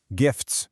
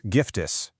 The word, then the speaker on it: gifts: Gifts becomes giftis, 2 syllables.